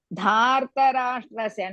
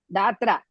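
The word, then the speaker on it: धार्तराष्ट्रस्य: Dhartarashtrasya, not datra.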